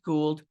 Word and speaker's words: Gould: good oh good yes well gold is is the way I I know some people may pronounce a gold sometimes I get surprised I'm like I don't understand because you know what a ghoul is without the D you just add the D um but yeah I